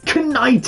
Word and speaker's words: knight: It's like how you say it's a knight in shining armor.